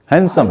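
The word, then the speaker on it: handsome: हैंडसम दिखें, उसमें भी हैंडसम नहीं है, वो हैंडसम है, हैंडसम। उसमें डक उच्चारण नहीं करना है।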